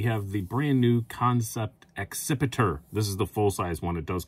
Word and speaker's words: Accipiter: And yes, I do know that I am pronouncing that correctly because it is a kind of bird. It's a sort of hawk.